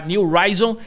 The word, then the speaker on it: New Rizon: Então, aqui da New Ryon, né, se escreve N R I Z O N, tá? New Ryon.